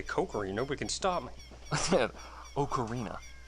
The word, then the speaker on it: ocarina: cokery nobody can stop okarina okar I had to train myself to pronounce that one differently because I got tired of people laughing at me you pronounce words differently